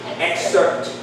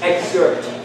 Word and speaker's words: excerpt: This one is not pronounced excerpt. It's excerpt. So even though EF is followed by a C, it has to be pronounced with a GC sound.